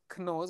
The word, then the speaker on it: knows: on your face, and the other one was knows with a K, except you don't pronounce the K.